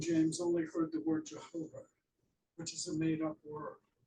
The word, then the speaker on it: Jehovah: only heard the word Jehovah, which is a made-up word that takes the consonants from Yahweh, except, you know, J used to be pronounced like a Y, because J used to be an I.